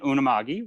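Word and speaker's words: Unama'ki: and the malicious yeah so i am in unamagi which is uh cape breton um that's how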